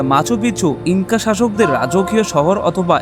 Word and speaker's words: Machu Picchu: bell আইকনটি click করুন স্পেনিয়া উচ্চারণের শহরটির নাম মাছপিছু যার অর্থ পুরানো চুরা